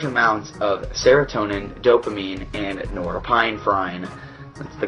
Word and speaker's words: norepinephrine: It releases large amounts of serotonin, dopamine, and norepinephrine. That's the correct pronunciation.